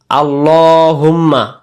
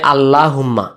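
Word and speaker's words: اللهم: শব্দটা অনেকে আমরা বলি আল্লাহুম্মা আল্লাহ শব্দ পড়ার নিয়ম হলো আল্লাহ শব্দের ডানদিকে যদি এরকম একটা জবর বসে যায় তখন আল্লাহ শব্দের লাম অক্ষরটাকে মোটে গোল করে ল মোটা হয় লুম্মা সল্লি আমরা এটাকে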